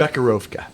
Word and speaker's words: Becherovka: So How do you pronounce it again, Doug? Bekarovka.